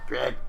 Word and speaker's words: Craig: Well, no, to be fair, but I've noticed a lot of Americans say Craig. In fact, I used to date an American lady who didn't have much of an accent, but she still said Craig a little bit.